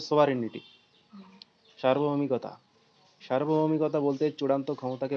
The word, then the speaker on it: sovereignty: একটা ইয়ে আছে না জি ওর উচ্চারণটা থাকবে না উচ্চারণটা হবে সোভারেনিটি সার্বভৌমিকতা সার্বভৌমিকতা বলতে চূড়ান্ত